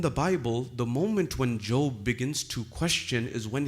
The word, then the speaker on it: Job: Ayub, who is known in the Bible as Job, J-O-B, spelt Job but pronounced Job.